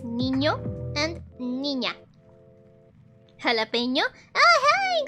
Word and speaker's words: niño: So, and lastly, it's niño.